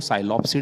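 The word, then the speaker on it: Psilopsida: पहली क्लास है इसको साइलो पसडी कहते हैं इसका एग्जांपल भी साइलो सम है आप ध्यान रखिएगा कि दोनों में पी साइलेंट है और फर्स्ट वर्ड भी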